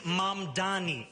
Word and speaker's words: Mamdani: And furthermore, the name is Mamdani, M-A-M-D-A-N-I.